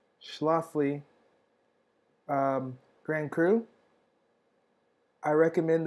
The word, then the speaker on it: Schlafly: opportunity to try the schlafly that's how it's pronounced schlofly um grand cru i recommend that you do